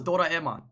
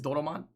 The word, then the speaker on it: Doraemon: e Oh daughter my I thought it was daughter Aman no it's Doraemon what why'd you put